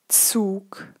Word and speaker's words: Zug: mind that you cross out every Z and you write down a TS, then you're right. So Zug, 10, 80. Once again, Zug, 10, 80. And you also see there is no difference in pronunciation when I actually have a TZ. It's still TS.